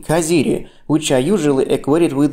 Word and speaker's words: Caziri: The letter "z" ("dzeta") in this word should be pronounced /t͡s/, like the Italian "z" ("dzeta").